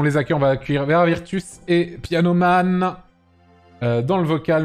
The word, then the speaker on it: Vera Virtus: Allez, on les accueille, on va accueillir Vera Virtus et Pianoman dans le vocal, messieurs, dames. Bonjour, bonsoir. Bonsoir. Bonsoir. Bonsoir. Alors, comment se prononce ton pseudo? C'est Vera Virtus?